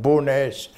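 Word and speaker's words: Bo'ness: I was born in a small village called Bowness, approximately 40 miles from here. Bowness? Could you spell it?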